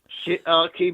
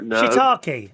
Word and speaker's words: shiitake: have a new one called, how do you pronounce it? Shiitake mushroom. Oh, no. Shiitake. I think that's how you say it. Yes. That is an actual mushroom and not a swear word, boys and girls. Shiitake.